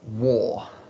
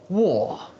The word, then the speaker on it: war: as you can see we write war with three letters w a and r but when we pronounce it there are only two sounds or the r in